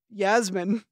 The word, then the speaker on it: Yasmin: podcast speaking about you and Yasmin um it's pronounced Yasmin get it right oh uh